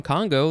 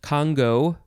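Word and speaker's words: congou: there okay next is it can be pronounced congo or congo but in either case you have to emphasize the first syllable congo kangu spelled c-o-n-g-o-u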